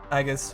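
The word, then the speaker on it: Aegis: our agis for agus I don't like the agus which is the correct way to say it apparently but I I detest it so I'm going to call it ages forever so here we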